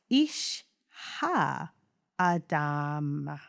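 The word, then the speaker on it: Ish ha-adamah: It's spelled ISHHA_ADAMAH. It's pronounced Ishha Adama.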